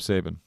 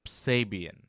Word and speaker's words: Sabian: And he's wrestling Kip Sabin. Kip Sabian.